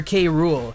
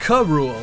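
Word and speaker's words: K. Rool: meant the world to see the love for k rool and though sakurai was too busy to directly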